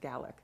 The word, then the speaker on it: Gaelic: pronounce a Gallic and the word it looks like Gaelic and Irish but the Scots pronounce it Gallic so they do have